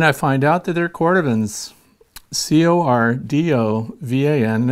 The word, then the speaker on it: Cordovan: Then I find out that they're Cordovans, C-O-R-D-O-V-A-N, and it's pronounced Cordovan.